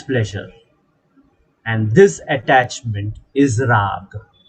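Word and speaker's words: raga: and this attachment is raag raag the last a is silent the last letter a is silent what is raag attachment attachment to pleasure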